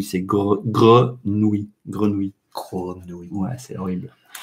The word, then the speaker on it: grenouille: et pour les infos pour les anglophones c'est un mot horrible parce que avec le r avec le oui à la fin c'est très très difficile à bien prononcer les 8 ces grenouilles grenouille crown winneway c'est